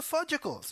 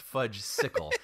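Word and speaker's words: Fudgsicle: Where were the werewolves and where are the fudgicles, you know? And I'm like, no, that sounds terrible. Like, yeah. I don't want to see that. First of all, Harry, it's pronounced fudge sickle.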